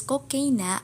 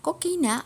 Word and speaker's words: kokaina: Artinya dapat ditulis kokaina atau kokain. Kalian dapat membacanya kokaina atau kokain.